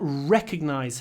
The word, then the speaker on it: recognize: not I did not recognize her at first when we have R in a stressed syllable make it long I didn't hold the